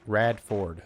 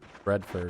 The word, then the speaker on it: Radford: Rat Rad Ford. Okay. You were actually just saying my name, not Redford or something.